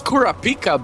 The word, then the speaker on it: Kurapika: Holy Uh, that's not how you say his name. It's Kurrapika, bro.